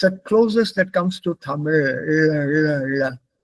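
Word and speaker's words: Tamizh: Malalam also they write in English like Z h but in pronounce it as that there is there is no sound for that there is no sound for that in English it's Tamil T A M I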